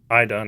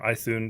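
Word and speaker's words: Iðunn: And, you know, and then down here we have Idun or Ithun, depending on your pronunciation, kind of like a representation of her.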